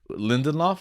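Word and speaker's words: Lindelof: a bunch of watchmen right so it's like lindenloft right damon is that how you pronounce it yeah yeah he like he does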